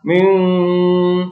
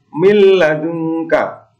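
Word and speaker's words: مِن لَّدُنْكَ: Tidak boleh dibaca ming, itu tidak boleh. Membacanya adalah milladunka. Kemudian zikrul lil alamin.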